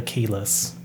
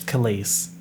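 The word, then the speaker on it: Kehlani: reason just want to call her keyless like keyless entry to a car but i know she's kalis but when i see the name i'm like how do i pronounce this is it keyless same thing with espa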